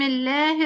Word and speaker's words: الله: بسم الله الرحمن الرحيم، هنا لفظ الجلالة الله، نطقنا فيه ايه؟ اللام لا، نطقنا الله فيها ايه؟ الألف الألف. اللام الله، الألف فين؟ بعد اللام الثانية.